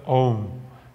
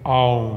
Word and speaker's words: Om: super inchado é o a sílaba om também é é pronunciado Como au au bom e interessante que